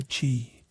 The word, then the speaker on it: chi: Here you're a vessel for chi, pronouncedq chi. And no, not the trendy grain.